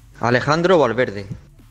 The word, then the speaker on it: Alejandro Valverde: Alejandro Valverde.